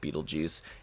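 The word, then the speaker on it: Betelgeuse: it's a e yeah it's a different spelling but it's pronounced Beetle Juice and so is his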